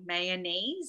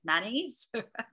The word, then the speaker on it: mayonnaise: The red is with three syllables, so mayonnaise, like how I would say it. And the blue is with the way that Landon said it, right? The two syllable, mayonnaise.